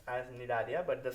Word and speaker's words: Cnidaria: Okay, so moving on to the third phylum, which is called as Cnidaria. Okay, the third phylum is our Cnidaria. C is silent here. Okay, it pronounced as Cnidaria, but the spelling starts with C.